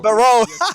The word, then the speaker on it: Barro: Barro. The first is on the second syllable.